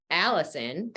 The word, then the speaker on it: allicin: five or ten minutes it activates something called allicin which I always love to say because that's actually my name um it's spelled differently but that's the compound in garlic